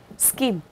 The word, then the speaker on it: scheme: Labeling scheme, cái từ scheme này nhá, nó là CH, đó, nhưng mình đọc là K. Okay, scheme.